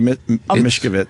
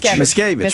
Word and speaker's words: Miscavige: Yeah, he I'm wants to be Mishkovich. How do you say that again? Miscavige.